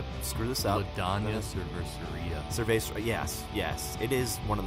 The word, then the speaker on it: cervecería: Essentially how you'd say it, cervecería.